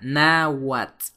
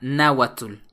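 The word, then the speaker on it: náhuatl: se escribe con h la letra TL al final de Las palabras se pronuncia como T T T por ejemplo nawat que se pronuncia nawat y no se pronuncia na atul creo que ese es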